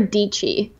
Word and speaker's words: Dietschy: So my name's Sara Dietschy, rhymes with peachy.